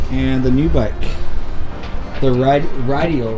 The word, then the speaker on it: Rideal: The Rideal, right? Is that how you pronounce it?